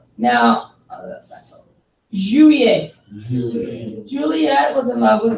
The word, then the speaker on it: juillet: E and two L's make a Y sound.